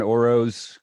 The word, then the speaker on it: Orosz: your name hey hey everybody this is oroz glad to be here oroz i'm glad